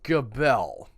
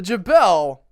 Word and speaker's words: Gabelle: In France, Tony, we're talking about the Gabelle. And I did look up several pronunciations that had the hard G.